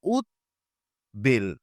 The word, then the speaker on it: উদ্বেল: যদি আমরা বলি হচ্ছে উদ্বেল এটার সন্ধি বিচ্ছেদ হচ্ছে উদ প্লাস বেল যেহেতু সন্ধিবদ্ধ শব্দ তার মানে এখানে দ এরও উচ্চারণ হবে ব এরও উচ্চারণ হবে তাহলে শব্দটা হবে উচ্চারণটা হবে উৎ বেল তাহলে সন্ধিবদ্ধ শব্দের ব